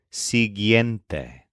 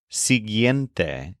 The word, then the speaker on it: siguiente: meaning it follows but the adjective sente is a particularly complex word with a lot of vowels s i g u i e n t e sente here's an example we